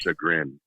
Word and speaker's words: chagrin: word you were trying to say is it's pronounced Chagrin oh okay what is that I think it